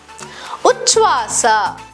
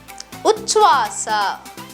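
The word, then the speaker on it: ಉಚ್ಛ್ವಾಸ: Uchvasa, Uchvasa meaning inhale. Here the cluster cha is used along with cha, the unaspirated version, to form the correct pronunciation and structure of the word.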